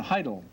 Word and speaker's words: Haidle: told me before that they pronounced it heidel dr heidel yeah i pronounced it hadel dr doran's taught prosthetics